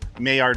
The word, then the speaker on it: Maillard: It's spelled M-A-I-L-L-A-R-D, but you pronounce it Maillard, like M-A-Y-A-R-D.